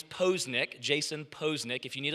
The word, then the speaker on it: Poznich: say his last name is it pause pose nick nitch let me give you a couple little little helpers here my last name is posnick jason posnick if you